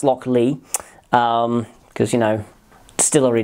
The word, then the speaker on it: Lochlea: could potentially trip you up it could be locklear it's not it is pronounced lock lee um because you know distillery names you can't